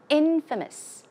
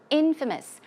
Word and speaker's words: infamous: same thing as notorious infamous infamous the stress goes on the first syllable infamous means to have